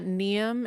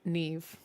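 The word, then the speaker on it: Niamh: v sound making oh so it's not neem it's Neeve Neeve yeah that's cool that's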